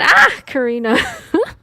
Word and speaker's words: ocarina: It's an ah Karina, you have to scream it every time you say it.